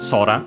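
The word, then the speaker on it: そら: also technically uh extended means but yeah the fundamental one is sky accent on the first syllable. So yeah, sora.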